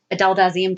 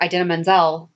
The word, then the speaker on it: Idina Menzel: Adele Dazeem, that's when, so that year, Idina Menzel won an award, and John Travolta butchered her name, and that's what she said was Adele Dazeem. Or that's what he said. He called Idina Menzel Adele Dazeem.